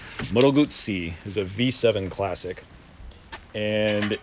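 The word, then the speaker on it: Moto Guzzi: a 2009 moto boot see it's Italian you got to say it correctly moto boots see is a v7 classic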